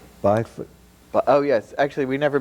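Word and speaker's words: Bijvoet: where did how do we say his name byot oh yes actually we never mentioned that it was designed uh in association with a Dutch architect Bernard bayot yes B name I didn't know how to pronounce until yesterday yeah uh but uh he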